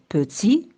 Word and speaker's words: petit: Pour t'aider à retenir la lettre muette à la fin d'un mot, pense au féminin. Exemple, petit se prononce petite au féminin.